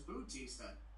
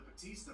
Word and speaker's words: Batista: Umaga and Batista. Batista? First William mispronounces Umaga as Umanga. Now Michael Cole mispronounces Batista as Bautista.